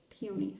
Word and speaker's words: peony: Not pony, peony.